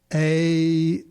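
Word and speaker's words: Ayoade: I was trying to decide how to pronounce this guy's name. Hold on, here's another page. AOD.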